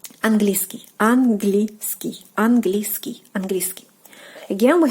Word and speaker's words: английский: So when you're trying to pronounce it quicker, the sound E will basically like disappear. Английский, английский, английский, английский.